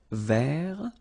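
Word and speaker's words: vert: Rouge remember rou so masculine form don't pronounce the final t ver feminine form ver so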